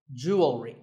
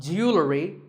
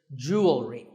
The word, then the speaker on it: jewelry: number 44 is jewelry it's spelled differently in American and British English but it's pronounced the same Jew will ring jewelry it's not jewelry and it's not jewelry it's jewelry up next is the